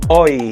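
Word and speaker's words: hoy: so it's hola okay what about today or it's spelled as h-o-y how do you say it today oh you know it's oi it's silent age so we have to say no it's oil it's oi okay all right guys so those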